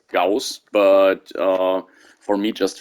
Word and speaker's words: gauss: the way i think all of the ghost weapons are should be pronounced as gauss but uh for me